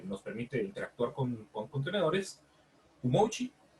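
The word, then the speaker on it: umoci: permite interactuar con contenedores, Umochi, sí, yo creo que así se pronuncia Umochi, que es un comando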